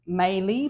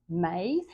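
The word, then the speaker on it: Maille: favorite Supermarket mustard it's looks like the word is melee but it's actually pronounced May it's a French mustard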